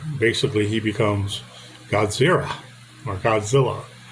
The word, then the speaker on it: Godzilla: he becomes Godzilla, or Godzilla, as the Americans say Godzilla, and the Japanese say Godzilla, almost like a zero or a zero.